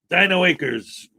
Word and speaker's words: Dino Acres: Dino Acres. Rhymes with Quakers.